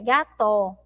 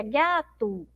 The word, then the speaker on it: gato: A gente não pronuncia aí gato, não é verdade? A gente pronuncia gato, então parece que tem um U.